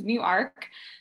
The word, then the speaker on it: Newark: pronounced different, so it's Newark. It used to be two separate words at one point in time.